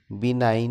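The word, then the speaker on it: benign: बिनाइन में जी साकिन है, लिखा तो जाता है लेकिन पढ़ा नहीं जाता।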